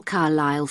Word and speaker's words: Carlisle: Could you spell Carlisle for me? Sorry. It's Carlisle. You don't pronounce the S.